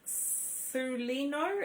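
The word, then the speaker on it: Celaeno: her and her name is c i will pronounce it properly so it is called su lino and she is the smallest star of the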